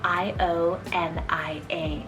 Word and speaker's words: Ionia: of as well it's the name ionia spell i-o-n-i-a ionia and this was derived from the ionian